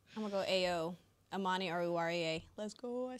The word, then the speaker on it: Amani Oruwariye: I'm going to go A.O., Amani Oruwariye.